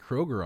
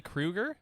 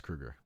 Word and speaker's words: Kroger: um i'm sorry wow i'm sorry krueger that's how you say last name is it really krueger yeah it's kruger well we've all been saying it wrong forever i mean i've been